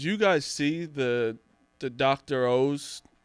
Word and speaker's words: Oz: And on Oz the Mentalist? It's supposed to be O's. Oh, no, really? It's spelled Oz. He pronounces it O's.